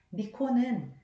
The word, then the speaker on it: 御子: 미코는 아들 자자 앞에 거느릴 어자를 한 하나를 더 써서 미코라고 읽는데요. 음.